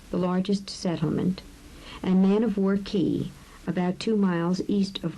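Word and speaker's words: cay: word key is spelled see a Y and pronounced two key the keys surrounding an island are named for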